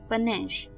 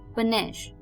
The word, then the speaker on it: panache: तो चलिए कदम बढ़ाते हैं पहले वर्ड की तरफ, जो कि आ रहा है पनेश। पनेश, PANACHE, पनेश।